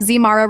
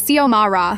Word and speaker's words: Xiomara: Zmara Rodriguez, she'd call out, not even looking up from her clipboard. It's Xiomara, I'd correct politely.